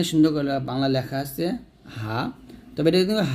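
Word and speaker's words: حاء: আসলো জিহ্বার মধ্যখান তার বরাবর উপাতাল সংজ্ঞা লাগে উচ্চারণ করতে হবে জিম এরকম ভাবে এই যে তারপরের হরফটা হা দেখুন এখানে সুন্দর করে বাংলা লেখা আছে হা তবে এটা কিন্তু হা এটা হা বলা যাবে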